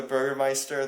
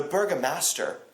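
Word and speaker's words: Bürgermeister: But um But yeah, or or the burgermeister, they're like the burgermaster. Yeah. Like things like that are kind of funny. And I know my German pronunciation is uh isn't very good either, but you know, I at least come on, put some effort in.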